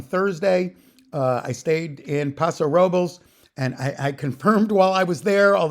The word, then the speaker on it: Paso Robles: there originally, but it's they don't pronounce it Paso Robles, they pronounce it Paso Robles.